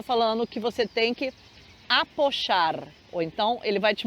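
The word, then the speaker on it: apoyar: A gente fala esse apochar porque essa palavra se escreve com Y no meio, né? Então, apochar, você vê que esse Y tem esse som chiado, tem esse som de J, outro tipo de fonema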